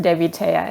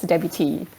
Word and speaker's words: Debbie Tea: when you told us that it was actually pronounced Debitea. It's actually pretty cool because I think almost everyone would think that it was Debbie T.